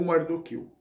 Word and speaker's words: Mardoqueu: e prima de mar Mordecai ou mardoqueu pronúncia as duas pronúncias aí é aceitável segundo as minhas pesquisas os